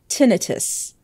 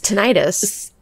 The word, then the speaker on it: tinnitus: it's only actually it's it is only properly pronounced tinnitus like the british people say it and i was like